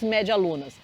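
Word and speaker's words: medialuna: você coma são as Méia lunas ó Méia Luna se escreve assim com D mas aqui mesmo você vai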